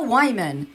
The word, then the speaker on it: Wyman: Last time I did a show, they brought me up saying, our next comic's name is Leah Wyman. That rhymes with hymen, and she's broke.